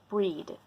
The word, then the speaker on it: Brighid: breed I call her breed because I believe and correct me if you're from Ireland or whatnot but um according to what I know in Ireland it's supposed to be pronounced breed so breed breed it